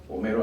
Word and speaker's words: Homero: Homero. What? Homero. Romero? No, not Romero, Romero. Spell it out for me.